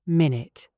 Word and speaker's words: minute: When we use it as an adjective for size we say minute stress on the second syllable.